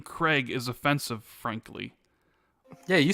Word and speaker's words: Craig: Craig Jackson in Fort Worth.